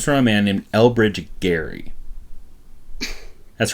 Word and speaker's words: Gerry: term though comes from a man named elbridge gary that's right gary i don't actually know why the pronunciation changed but that happens all the time